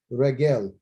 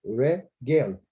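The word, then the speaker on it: רגל: And then you got the three dots, again. And the final's L, lament. So it's regel. So that's how you say it, regel.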